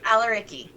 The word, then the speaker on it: Al-Areqi: Al-Areqi. Al-Areqi, because I did not want to say it wrong.